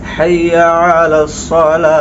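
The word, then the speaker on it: حي على الصلاة: অনেকে বলে হাইয়া আলাস সালা অর্থাৎ সিন দিয়ে উচ্চারণ করে তো দেখেন কত বড় ভুল হয় বলতে হবে সওয়াদ দিতে হবে হাইয়া আলাস সালাহ একটা জিনিস মনে রাখবেন হাইয়া আলা সালাহের ক্ষেত্রে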